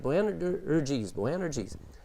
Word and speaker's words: Boanerges: Boanerges, which is the sons of thunder.